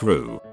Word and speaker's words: roux: Not a professional, but my 2C, learned Rue, pronounced like Rue, little flour, little fat.